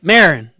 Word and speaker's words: Maron: So, former President Barack Obama used comedian Mark How do you pronounce his name? Mark Maron. Marin.